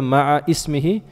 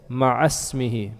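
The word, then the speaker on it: مع اسمه: And normally don't say the ma'a ismihi. You normally say ma'asmihi, because that alif is not normally pronounced.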